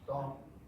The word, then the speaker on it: Stanton: It's Staunton. Why? Because in the Shenandoah Valley, there is a school called Staunton. Settlement called Staunton. And that's how you pronounce it, never mind that it's spelled S-T-A-N-T-O-N.